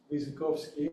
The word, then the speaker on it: Wyrzykowski: for us uh our visitor whose name is pronounced as he said it visovsky and all those years I was pronouncing his